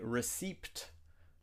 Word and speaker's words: receipt: Another word with a silent P is receipt. Do not say receipt. We have to say receipt. The P is silent.